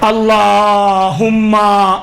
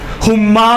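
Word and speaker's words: اللهم: صحیح نہیں پڑھتے ہیں۔ مثلا اللہم، دیکھیں ہما ہے، اللہ میں آپ نے اللہ کی جلالت کے خاطر آپ نے کھینچ لیا، ہم نے قبول کر لیا۔ ہما میں کون سا الف ہے جو آپ ہما پڑھتی ہیں؟ نہیں ہے، ہما نہیں ہے، کوئی لفظ نہیں بنتا ہے۔ ہم اللہم صلی علی محمد یوں ہے، تجوید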